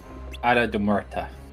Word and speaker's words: Isla de Muerta: It was she that leads us to the Isle de Muerta, by the way. If I hear one person pronounce this wrong, I will go psycho. Isla de Muerta.